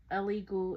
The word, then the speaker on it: Elegoo: a kit I got it's called illegal is spelled l e l e g o o e l e g